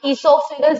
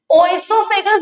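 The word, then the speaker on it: oesophagus: The alimentary canal consists of mouth, buccal cavity, food pipe, esophagus जिसे बोलते हैं, ओइसोफेगस नहीं बोलते, ओ है पर ओ साइलेंट है और ओ हमेशा हम बड़ा लिखते हैं।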